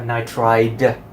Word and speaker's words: nitride: to be hydrogen nitrite be careful because you also have nitride would I de so you better pronounce it correctly nitrite and I am nitride is different the nitride is basically